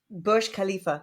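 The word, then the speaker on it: Burj Khalifa: khif yeah what how do you say it Bush Khalifa okay okay yeah they they do Pride themselves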